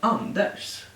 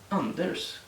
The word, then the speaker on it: Anders: rs ah por exemplo você pensaria que seria Anders Anders ou osta Mas você estaria errado você tem que quase todo Umo pronuncia como um como um x um um ficativo dental mas com a língua né no no dente então então and and